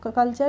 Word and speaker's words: culture: ठीक है, तो TURE एक साथ किसी भी वर्ड में दिखें तो वहाँ पे उसका प्रोनाउंसिएशन हमें करना है चर। ठीक है, तो CULTURE, CUL कल हो गया, TURE क्या हो गया? चर।